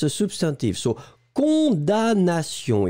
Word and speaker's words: condamnation: So you pronounce condamnation. D'accord? You don't pronounce the M at all.